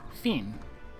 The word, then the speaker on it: Fen: Guy called Fen, and he pronounces his own name like Finn.